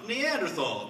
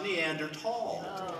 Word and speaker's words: Neanderthal: a good job but the word Neanderthal I pronounced Neanderthal but apparently it should be pronounced neander tall Yeah well yeah I'm from denobula but when